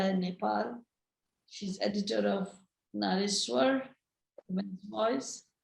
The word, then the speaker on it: Nariswar: She's editor of Nariswar, Women's Voice. In Bangla, we pronounce it as Narishwar, it's the same word.